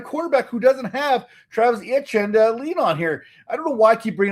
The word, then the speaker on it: Etienne: offense and a quarterback who doesn't have Travis Etienne to lean on here. I don't know why I keep bringing up his name. I can never pronounce it properly. It's Etienne.